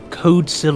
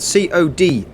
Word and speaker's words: Codicil: Code- It is spelled Codicil. Oh, I spelled that wrong. That's why. It's my pronunciation, so I apologise. You can pronounce it Codicil, Codicil. I think it's Codicil.